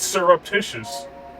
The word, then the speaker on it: surreptitious: stir up surreptitious surreptitious it's surreptitious oh syrup like syrups almost like syrup except with syrup surreptitious oh okay I